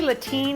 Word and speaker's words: Latine: I say Latine because it rhymes with saltine and I like it.